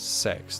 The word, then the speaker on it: CeX: I noticed that CEX adverts now pronounce the name as sex.